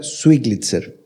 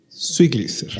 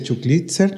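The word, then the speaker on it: Schlitzer: Eh, mi apellido se pronuncia Switzer. Swlitzer. Sí. S. Sí. Ya. Porque hay gente que dice chuclitzer. No, no es así.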